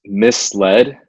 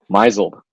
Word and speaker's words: misled: going into kindergarten so one of the words i always mispronounced was misled i think maybe up until college i would say mizel dude he totally like